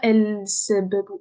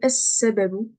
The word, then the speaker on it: السبب: Vous avez vu, je ne dis pas el sababu, mais c'est trop dur à dire. Franchement, j'arriverai même pas à le dire. El sababu, c'est difficile. Alors que es sababu, voilà, là, c'est facile.